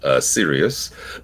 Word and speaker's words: Cyrus: Yes, and Kevin, you've given the Persian pronunciation of Cyrus, Sirius. His name is Cyrus Pittman. But in Iran, you say Sirius.